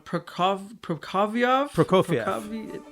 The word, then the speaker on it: Prokofiev: And other than the brandy, there was the connection of, I'm going to say the name wrong, Prokofiev?